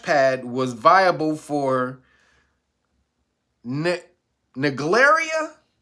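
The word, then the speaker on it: Naegleria: from a splash pad was viable for NE naria it's spelled n a e g l e r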